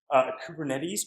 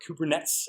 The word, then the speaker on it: Kubernetes: more complex in place kubernetes for Cooper nets as I've heard it mispronounced I think is some